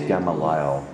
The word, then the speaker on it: Gamaliel: It's Gamaliel. No, it's not. It's who knows? The emphasis is on the middle syllable.